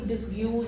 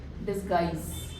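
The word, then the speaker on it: disguise: बिल्कुल इसको जैसी स्पेलिंग है वैसे नहीं प्रोनाउंस करना है। रिमेंबर दैट इसको डिसज और ऐसे मत मत बोलना। डिसगाइस है ना?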